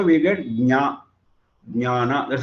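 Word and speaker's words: ज्ञान: We are using Ga, whereas the correct one is Ja. That is why in English you start with J and we start with G.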